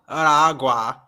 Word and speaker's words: Aragua: Aragua.